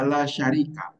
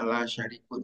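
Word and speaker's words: لا شريك: Itu juga sama, harus dibaca la syarika, jangan yang lain. Walaupun secara bahasa bisa saja dibaca la syarikun, tetapi maknanya beda.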